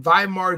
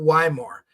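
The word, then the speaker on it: Weimar: you're looking up viar you're pronouncing it wrong it's not Yar I speak German in German we don't have a double U we have a double v so it's viar Germany not Yar it's viar you're mispronouncing the the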